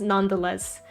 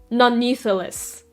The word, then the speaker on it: nonetheless: This was me when So, this isn't as egregious, but when I was younger, I would always mispronounce nonetheless. I thought you pronounced nonetheless. None needless.